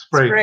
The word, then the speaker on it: Sprague: And do you do a 20 millimeter, or you're going to have to help me with the pronunciation of this? Is it Sprague? It's Sprague, yeah.